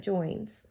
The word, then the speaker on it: Joines: The Joines family, that Joines is spelled Joines, so not Jones, but Joines.